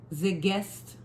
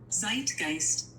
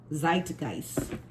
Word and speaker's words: Zeitgeist: And then every Zigest, I know I'm not pronouncing this right, and I even had my phone pronounce it. Hold up, let me see if I can find it. I don't think I think so every here it is. Zeitgeist. Zeitgeist.